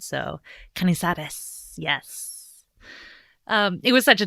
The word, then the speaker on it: Canizares: I really like saying her last name because my pronunciation in French is terrible, but I feel like my pronunciation in Spanish is really good. So Canizares, yes.